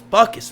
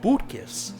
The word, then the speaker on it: Butkus: Not just that, but the guy, Butkus goes, the guy must have been Lithuanian like I am because he pronounced my name right.